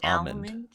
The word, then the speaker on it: almond: out how to say almond almond do you say almond I I've met somebody who says almond with no l at all almond I think I